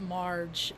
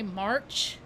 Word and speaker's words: Marge: what my name is it's Marge like the Simpson I say Mar sometimes people I say my name and they think I say March so I say like